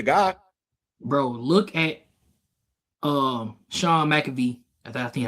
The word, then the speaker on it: McVay: Bro, look at Sean McVay.